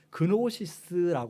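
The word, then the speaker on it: γνῶσις: 진자가 묵음이 근데 이제 헬라어로는 그리스어로는 그노시스 말합니다 그대로 진자를 읽어서 그 그노시스 건 식이에요이 영지주의 이단은 말 그대로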